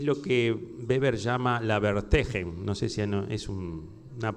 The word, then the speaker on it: Verstehen: Es lo que Weber llama la Verstehen. No sé si es una palabra alemana. Verstehen, que quiere decir algo así como la comprensión racional de las motivaciones de la acción. La Verstehen.